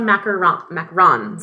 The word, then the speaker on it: macaron: So anyway, I had homemade pizza tonight, and what I was saying about the macarons.